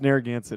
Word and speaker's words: Narragansett: pronounced and thank you for that yeah it's narragansett is the proper pronunciation you wouldn't it's impossible to guess if